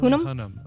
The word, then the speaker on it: Hunnam: And the other one being Charlie, I'm going to mispronounce his last name. Hunnam? Is that right? Hunnam? Hunnam.